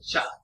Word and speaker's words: cak: And the word cha is not chow but cha.